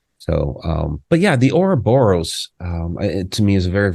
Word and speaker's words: Ouroboros: I believe it's pronounced the Ouroboros.